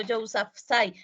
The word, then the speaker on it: Yousafzai: Así como lo estás pronunciando Yousafzai, porque pues es que eso es como árabe y pues la pronunciación a veces Okay.